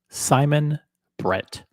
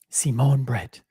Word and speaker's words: Simon Brette: it in French or do I pronounce it in English uh Simon Brett and in in French it's Simon Brett Simone uh should we call him Simon or Simone Simone Brett but uh Simone Brett